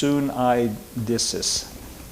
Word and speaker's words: suneidesis: The word that's translated here, conscience, is a Greek word, and it is pronounced suneidesis. Suneidesis.